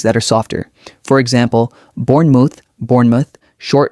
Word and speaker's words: Bournemouth: For example, Bournemouth, Bournemouth, short O, light ending. Noddingham, Noddingham. Notice how the ham becomes soft and quick. Say them with me slowly first. Bournemouth.